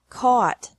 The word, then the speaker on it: caught: ugh tea or a ugh tea but the pronunciation is the same bring brought brought by bought bought catch caught caught fight fought fought seek sought sought teach